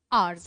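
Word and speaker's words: hours: आवर्स। है ना? इसमें एथ साइलेंट होता है।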